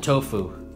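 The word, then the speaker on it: Tofo: Even Tofu, T-O-F-O. Locally, they called it Tofu. So, let's go with Tofu.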